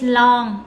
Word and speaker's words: lon: Can is long. Long, you have to pronounce this carefully. Long. Long, okay? Never close mouth for this. O-N, long, long. It's like long in English. It's like long, L-O-N-G, same, okay?